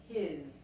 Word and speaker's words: his: que la S española, pero la S aquí se pronuncia como la Z inglesa, his, his, ok, la puntita